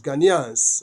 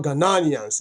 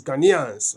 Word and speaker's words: Ghanaians: Ghanaians. Okay. It's not Ghanaians. It's Ghanaians. Okay. That's the correct pronunciation.